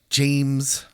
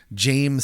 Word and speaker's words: James: Jame or Jamie. We're good with either or. It's spelled James, so I'm going to call him Jame.